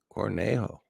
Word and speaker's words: Cornejo: I'm I'm getting there I'm learning not to pronounce my J's very good that's a